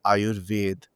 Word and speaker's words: Ayurveda: So I wrote that actually, in Bengali, we say Ayurved. Should I say it like that? So after that, there was no response. So they're not Cheeky. even aware that when I'm saying something, that is the pronunciation that comes down from Sanskrit.